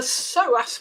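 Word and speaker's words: psoas: know it it it's the soas muscle let me spell that for your listeners PS O A the so muscle sits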